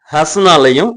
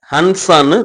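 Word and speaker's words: हँसना: அதே மாதிரி ஹஸ்னாலையும் நடுவுல வர்ற N சைலண்ட் லெட்டர். ஹன்சான்னு தயவு செஞ்சு ப்ரொனவுன்ஸ் பண்ணாதீங்க. சப்ஸ்கிரைப் பண்ணுங்க, ஷேர் பண்ணுங்க.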